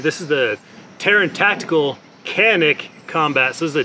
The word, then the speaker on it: Canik: The price tag is much more expensive than the other Canik options.